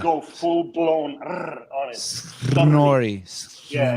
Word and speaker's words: Snorri: Snorri. Yeah, it's like Snorri. The pronunciation is like it's got 19 R's in there, not 2. You actually start rolling them even in the first syllable.